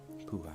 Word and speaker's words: Pooh: The Pooh, by the way, is pronounced sort of like poo, but without so much oo, like the sounds you make when blowing a fly off your arm on a hot summer day.